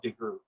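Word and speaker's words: DeGruy: a white and but it's pronounced degree yeah we'll check her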